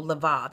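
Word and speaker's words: lebab: e b a b but the B is pronounced in a V so laav and listen to this it means your appetites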